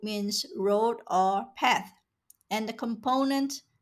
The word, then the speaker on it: 趴: The component part of the Chinese word 趴 is 八, which means 8 in English. The component provides a clue to the pronunciation of the character 趴.